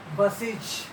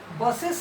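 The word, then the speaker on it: buses: यू एस ई एस बसेज जब बस में इस जोड़ देते हैं तो पलल बन जाता है तब वहां पर उसका उच्चारण बसेस नहीं करेंगे बसीज क्या करेंगे बसीज तब इसका अर्थ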